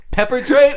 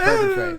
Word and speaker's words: perpetrate: Peppertrate? That's a fucking hilarious mispronunciation of perpetrate. It's like when you just like put pepper in someone's house without them knowing.